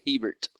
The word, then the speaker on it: Hebert: Well, now that we'll say it right, Hebert. Yeah, thanks. Awesome. At least you didn't say Herbert. That's usually what I get. Oh no, yeah, there's absolutely no R in there at all.